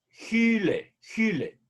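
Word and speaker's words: ὕλη: tengo un acento perdón es un espíritu áspero y por lo tanto hay que pronunciar la ypsilon prefijado le un sonido que se parece a nuestra jota gil gil bien ahora derivada mente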